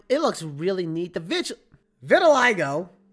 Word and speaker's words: vitiligo: I just looked it up on Google. It is actually Vitiligo.